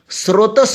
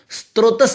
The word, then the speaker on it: स्रोतस: स्रोतस होता है, स्त्रोतस नहीं होता है।